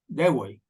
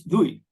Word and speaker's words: Dewey: Yes, it's very important because first I discovered when I was there, the first thing I discovered that I pronounced Dewey, and it's Dewey.